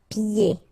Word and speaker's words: pieds: So final S here and then final S here is not pronounced. And then when you get this combination here, it's ye. Pieds. Okay, so you don't hear the D.